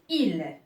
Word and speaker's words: île: Exemple, une île. Exemple, une île. Alors, île, là aussi, la prononciation de I n'a pas changé même s'il a pris l'accent circonflexe.